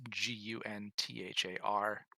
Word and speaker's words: Gunther: Gunther is Gunthar.